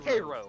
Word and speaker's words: Cairo: Spelled like Cairo, Egypt, but it's pronounced Cairo, Cairo. motherfucker.